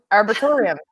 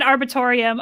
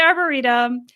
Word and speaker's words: Arboretum: So it's the LA Arboretum. That's not it. Okay, so you said arbitorium.